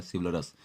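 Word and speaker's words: chivalrous: देखिए यहाँ शब्द आ रहा है, हालांकि इसका प्रोनाउंसिएशन भी होता है सिवलरस, तो सिवल आ रहा है तो शिवालय बोलिए, शिवालय।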